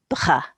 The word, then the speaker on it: bras: So this has got a silent S on the end. It's got an R and an A sound, so it's un bras, un Bra.